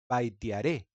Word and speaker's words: Vaitiaré: Se llamaba Baitiare y es mi deber revelarles a todos aquellos de ustedes que viven en la ignorancia que no se pronuncia baitiare, sino aún más hermoso, baitearé.